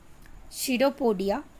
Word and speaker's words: pseudopodia: Now coming of next, that is your सीडोपोडिया। इसको हम P is silent here. So what is the working of this pseudopodia?